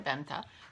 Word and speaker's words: Bente: And I'm so sorry, Benta, for mispronouncing your name all this time, because I know that an E at the end is pronounced like an A in English. You know, Licka Needles, Arna, and Carlos.